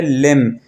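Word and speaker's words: limb: लिम। B silent हो जाएगा।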